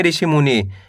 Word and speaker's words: ऋषि मुनि: दोनों मिला दो त्रिणमूल ऋषि मुनि कैसे पढ़ेंगे ऋषि मुनि पहले आपको ऋषि पढ़ना है इसके बाद मुनि पढ़ना है दोनों मिला दो ऋषि मुनि आया दोस्तों समझ में